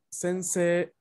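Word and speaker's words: 先生: Pero ahora encontramos algunos elementos diferentes en cuestión de fonética, porque, por ejemplo, tenemos aquí la palabra sensei, sensei, y como podrán escuchar, yo leo sensei una E larga al final.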